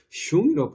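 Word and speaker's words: 熊: 그 중국 오랑캐 발음으로 슝이라고 발음하거든요.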